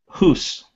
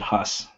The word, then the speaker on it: Hoos: Hoos, which I've been pronouncing wrong this whole time. I apologize. I thought you said hus.